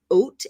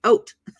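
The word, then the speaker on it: אות: letter is called an oat and it's pronounced like if you were going to have some oatmeal right oat oat means sign so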